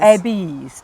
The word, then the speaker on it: Abies: And you pronounce every vowel separately. So it's spelled A-B-I-E-S, right? And you could think it's not it might Abies. be Abies, exactly.